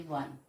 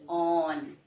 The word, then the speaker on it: one: is start, we say 1, we never say on, we never say own, we say 1, W-N-E. So 1 is starting with W, and that's why we are using here A.